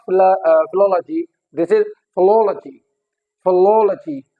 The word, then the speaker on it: philology: Likewise this is not philology, this is philology, philology, again on the third last, okay।